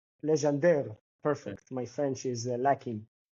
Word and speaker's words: Legendre: Legendre. Legendre.